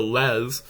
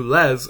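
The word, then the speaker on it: laisse: a similar structure and I have the unfortunate habit of pronouncing lessor lessons in the very French manner so anytime you hear me say the word les this is what that is referring to while today the story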